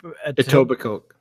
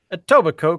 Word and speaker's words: Etobicoke: my god how do you say that it Etobicoke that's the one Etobicoke con Terry that's where they've moved to but